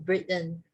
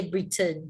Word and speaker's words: Britain: people comes from britain normally we say britain but then the native speaker they break the word into two they break the word into two like brit and britain britain so but never